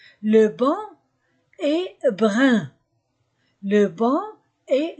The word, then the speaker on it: banc: Ban est brun le banc et je ne prononce pas le C le banc est brun